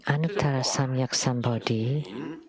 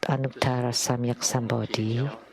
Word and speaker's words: Anuttara Samyak Sambodhi: The so-called Anuttara Samyak Sambodhi is the way I pronounce it is the way my mom pronounced it. This is in Taiwanese. But in Mandarin Chinese, I like the pronunciation of my mother.